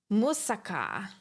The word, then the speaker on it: Muzak: Did I say it wrong? Muzak. Muzaka. Musaka. It is Muzak.